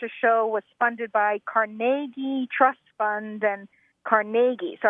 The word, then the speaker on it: Carnegie: hear again and again carag caragi Carnegie Accent on the second syllable with more of an a than a e right so the Carnegie